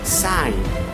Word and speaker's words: sign: See, the G letter is not pronounced when it comes before N in a word.